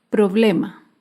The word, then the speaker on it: problema: Otro ejemplo de palabra grave sin tilde es la palabra problema. Problema se acentúa en la penúltima sílaba, pero no lleva tilde porque termina en vocal.